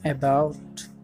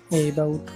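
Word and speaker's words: about: আমাদের তৃতীয় শব্দটি হচ্ছে অ্যাবাউট, যাকে আমরা প্রায় অনেকে ভুল উচ্চারণ করি এবাউট বলে।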